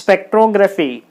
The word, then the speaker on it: spectrography: So, 1, 2, 3, 4 syllables are there and this word is ending with graphy, so the stress should be on the third syllable from the last.